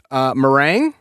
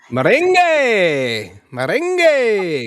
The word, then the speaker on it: merengue: to learn salsa and meringue. Am I mispronouncing that? Meringue? Merengue. Got it. All right. Got to have that extra little salsa kind of way of saying it.